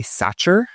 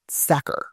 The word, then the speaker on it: Sachar: is Louis Sachar, though I did hear someone say Satcher the other day when I was talking about this book. I've never pronounce it Satcher; “Sacker,” right?